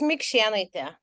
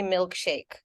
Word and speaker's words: Mikšėnaitė: your last name uh it's mikshanita uh okay so I don't expect people to get it in my first workplace ever uh when I was working in UK they couldn't pronounce it so they would call me milkshake so yeah yeah yeah